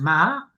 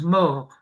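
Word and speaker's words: מר: Alors ici, c'est un cas intéressant, parce que les Ashkenazim disent mar et les Sfaradim disent mort.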